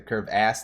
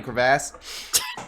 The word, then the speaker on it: crevasse: uh to experiment more like the curve ass that we just got i mean crevasse that we just got recently i always mispronounce it unintentionally um but it's i